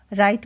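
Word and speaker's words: write: silent मिलेगा नाउ में के नाइट में क्या साइलेंट है जी एच कुड में एल राइट में डब्लू नाइफ में के हाई में जी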